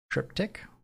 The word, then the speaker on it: triptych: shrimping for 26 months the chat in triptych is a k sound triptych never heard it that